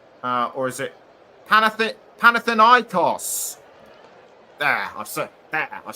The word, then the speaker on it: Panathinaikos: And Mladenovic plays for Panathinaikos. Or is it Panathinaikos?